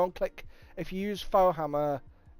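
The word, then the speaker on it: Faux Hammer: If you go and click, if you use Fohammer, as it's spelled, F-A-U-X Hammer at the checkout, there's $200 off.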